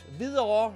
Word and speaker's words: Hvidovre: Yes, only Danes know how to pronounce that strange word. Hvidovre, it is called.